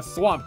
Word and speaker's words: Thwomp: All of the cogs will switch direction each time a thwomp crashes into the ground. A what? A thwomp. You pronounce it thwomp?